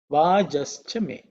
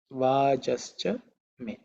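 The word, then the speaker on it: वाजश्च मे: In terms of pronunciation, it should be pretty simple. This Samhita form with Sandhi. The simple other form the Sandhi split is Vajaha cha me. Vajaha cha me. So, Vajashcha Me. The Visarga becomes Ish because of Sandhi.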